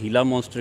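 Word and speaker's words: Gila monster: में पाई जाती है उसको कुछ लोग गीला मनस्टर कहते हैं या उसको प्रोनाउंस करने के लिए हीला मनस्टर कहते हैं वो दुनिया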